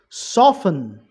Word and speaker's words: soften: Soften, T silent.